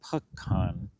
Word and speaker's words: pecan: to Antoine and the pecan. Antoine pecan. Those kind of rhyme. That's how you remember to say it correctly, like me.